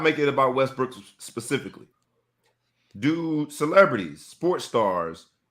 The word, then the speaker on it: Westbrook: And for Westbrook, he's saying hearing his last name pronounced Westbrook instead of Westbrook is equally offensive. So where is the line drawn? That's like the French pronunciation.